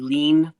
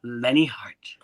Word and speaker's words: Lenne Hardt: because a lot of people still call me lean or Leanne it's Lenny Lenny heart yes lovely lovely well it's been uh fantastic